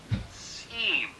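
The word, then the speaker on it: SIEM: some more sets we get what we call seam at least that's how most people pronounce it anyway and this is security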